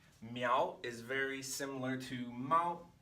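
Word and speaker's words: 猫: Now that we have miao established, it makes sense that this pronunciation goes with animal to make mao, cat. So it is still a lot to remember.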